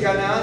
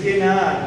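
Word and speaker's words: כנען: pero la tierra El Canaán en hebreo no se dice kanaan sino se dice kenaan No es cierto Okay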